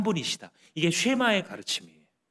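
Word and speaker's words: שמע: 9절을 쇠마라고 불러요 왜냐하면 시작할 때 들으라라고 하는이 말이 히브리 말로 쉐마와 명령형을 써서 그렇게 발음이 되거든요 그래서 아마 여러분들도 유대인들의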